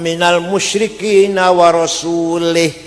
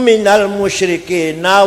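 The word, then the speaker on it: مِنَ الْمُشْرِكِينَ: Quran salah waallaha barium Minal musyrikul Allah orang melindungi tidak melindungi orang musyrik dan tidak melindungi rasulnya Rasulullah salah yang benar bacanya waallaha barium Minal musyrikina waasulah Allah tidak melindungi orang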